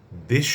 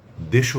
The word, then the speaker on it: দেশ: কিন্তু কথা হলো যখন এর সঙ্গে অন্য শব্দ যুক্ত হয় তখন তার উচ্চারণ দুরকম হয়। এমন অনেক শব্দ আছে যেগুলোতে দেশ শব্দটির উচ্চারণ অক্ষুন্ণ থাকে। অর্থাৎ দেশ হিসেবেই থাকে। আবার অনেক শব্দ রয়েছে যেগুলোতে এই দেশ শব্দটির উচ্চারণ দেশও হয়ে যায়।